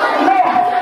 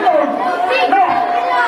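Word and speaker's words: نوح: Bacanya adalah Nuh. Agak ngorok sedikit, bukan Nuh, ya, ngorok sedikit.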